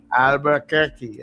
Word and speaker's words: Albuquerque: Paty is al out there in I wonder what if I can pronounce that name but Albuquerque New Mexico. That's correct. Albuquerque.